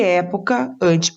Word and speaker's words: época: E época, antepenúltima sílaba, é.